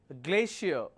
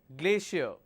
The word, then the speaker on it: glacier: difficult dilemma exhaustion next Glacier even though you have the letter c it carries a function of a sh like station shampoo sh sound Glacier Horizon it's not Horizon